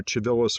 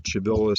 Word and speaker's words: Civilis: called the Corpus Juris, either Civilis or Civilis, depending upon which system of pronunciation you want to use. I tend to more toward the Civilis, sort of ecclesiastical/Italian pronunciation.